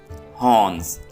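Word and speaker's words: horns: में हनस कहते हैं हनस यहां पर आर साइलेंट है कतला कतले को इंग्लिश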